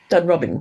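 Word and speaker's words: Dunrobin: But um really she grew up in Dunro Robin or I I'm never quite how to say the name of that house. Dun Robin.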